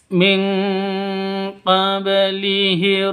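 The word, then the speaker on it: مِنْ قَبْلِهِمْ: qablihir rusul min qablihir nun mati bertemu dengan qof. Cara bacanya samar didengungkan siap-siap ke huruf qof-nya karena nun matinya ditambah dengan n ng karena bacaan ikhfa haki ikhfa hakiki. khusus qof dan kaf yang ditambah ngg min bacanya seperti itu min qblihim qablihim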